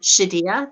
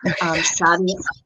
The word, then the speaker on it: Shadia: Okay, well, there are two different pronunciations that you can go with, and Shadiyah that you use is one of them. Shadia, yes, Shadia is a very popular one that